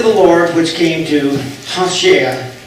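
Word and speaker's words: Hoshea: The word of the Lord which came to Hashea would be how you pronounce his name more than Hosea, but we use that.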